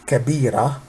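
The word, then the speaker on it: كبيرة: this we read it kabira also this is TA but we don't say kabirat we say kabira why we say we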